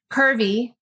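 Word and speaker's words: CRVI: all around outdoor recreation curvy the way folks pronounce the acronym for the clinch river valley initiative focuses specifically on the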